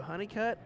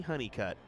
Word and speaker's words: Honeycutt: It's Andrew and Brittany Honeycutt. I think that's the proper pronunciation. Yep. Hunnicutt.